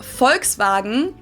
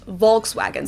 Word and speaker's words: Volkswagen: But even if we did go by the full name, it would be pronounced folks vagen and not Volkswagen. So, just imagine that it was spelled with an F and V instead.